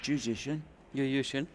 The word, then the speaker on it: Juszczyszyn: I once asked him how to pronounce his name, and he said, well, if you do it the same as musician, but Juszczyszyn, it's the same.